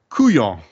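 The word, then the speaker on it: couillon: be fun so the your Cajun word is going to be kuong KU depending on so depend if you you spell it formally it would be like c u l l i o n but colloquially it is often spelled like c o n y in like okay look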